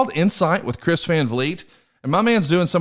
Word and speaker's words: Vliet: It's Insight with Chris Van Vliet. And as an old hillbilly from Alabama, let me just say, I had to double check the spelling. So let me spell it for you. VLIET.